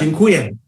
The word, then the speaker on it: Dziękuję: How do you say thank you? Dziękuję.